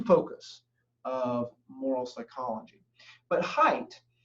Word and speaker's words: Haidt: of moral psychology but height or sometimes I see his name or hear his name pronounced hate it's h AI ght but height argued in